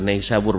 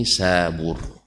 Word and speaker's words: Nisabur: orang yang sana Barca bukan naisabur bacanya tapi ini Sabur ini sebur lesu orang